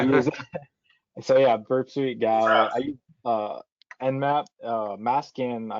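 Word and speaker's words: gau: Yeah, I was gonna say, how do you pronounce this thing, Corbin? GAO.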